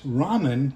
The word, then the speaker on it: ramen: I've always pronounced it ramyun, and everybody else pronounces it ramen. And I thought, well, you guys don't know what you're doing. What I found out in my studies is it's ramen in Japanese and Chinese, and it's ramyun in Korean.